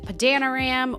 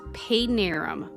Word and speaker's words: Padanaram: Some people pronounce it Padanaram or Padanaram. It's Padanaram, Massachusetts.